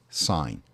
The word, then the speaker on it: sin: of those computer things we drop the silent e so sin is pronounced sine and i'm multiplying t